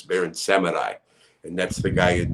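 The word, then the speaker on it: Baron Samedi: in the in the some people say baron samidi but it's barren seminai and that's the guy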